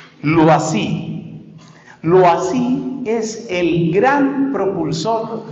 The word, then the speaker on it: Loisy: sus estudios posteriores, es un sacerdote de apellido Loisy, se escribe L, O, y latina, S, Y, Loisy.